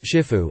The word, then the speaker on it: Shifu: or teacher of masters, both pronounced Shifu as an honorific title